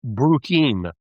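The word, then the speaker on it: Bruchim: Uh, two I can think of are Beyond the Bris, which is a great website, and the other one is Bruim. It's spelled B R U C H I M.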